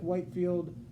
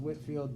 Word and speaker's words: Whitefield: Again, it looks like Whitefield. He's British, pronounced Whitfield.